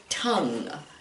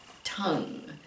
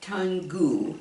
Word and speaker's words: tongue: do you see this word right here it's pronounced tongue tongue it's not tan goo or something like that i don't know why